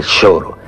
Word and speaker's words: choro: que se llama choro se escribe como el choro de de nuestras palabras Un poco delincuencial pero se pronuncia shoro y es una forma